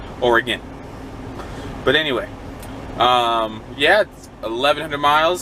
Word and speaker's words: Oregon: or it gone now it's spelled like it looks like Oregon but my entire life living right next door to it in California or again but anyway yet 1,100